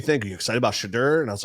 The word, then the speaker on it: Shedeur: Shedeur led the Browns to their first win.